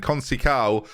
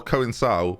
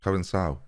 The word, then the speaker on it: Conceição: Conceição is there, or Coensao, which I know is how you say it, and I don't know why.